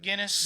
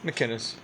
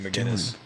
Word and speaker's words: McInnis: McInnis. What did I say? It's a C, not a G. McInnis. Ding dong. I answered to that. It was McGinnis.